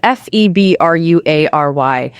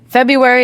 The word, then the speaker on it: February: The spelling is F-E-B-R-U-A-R-Y. But in natural American English, most native speakers say F-E-b-u-ary, completely dropping the first R. So, both pronunciations exist? Yes, February is technically correct.